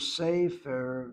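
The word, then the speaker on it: ספר: In the case of sefer, notice how I'm saying it, sefer. I'm not pronouncing the word as sefer. I see that sere. Sere draws the emphasis.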